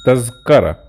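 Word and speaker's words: تذكرة: Usually in Masri, the people pronounce it Tazkara, without the tongue out.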